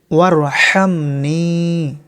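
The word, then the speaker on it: وارحمني: ওয়ারহামনি, হা অক্ষর শ করে আওয়াজ করতে হবে। ওয়ারহামনি, নি একালিপ পরিমাণ টানতে হবে।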